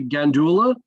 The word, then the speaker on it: Gandulla: Am I pronouncing her name correctly? Gandulla? That's great. Okay, Stephanie Gandulla, who's a maritime archaeologist out in Michigan, and